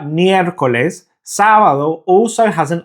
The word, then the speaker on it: miércoles: That just tells us that it's the first syllable that is the stressed syllable. So the pronunciation is miércoles.